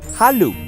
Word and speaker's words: Halu: Se pronunciaba Halu y significaba júbilo.